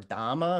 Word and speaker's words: dhamma: know it's like what does dharma mean or dhamma if we're pronouncing it in pali so we have the